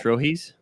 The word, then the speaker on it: Trojes: How do you say that correctly? I would say trojes.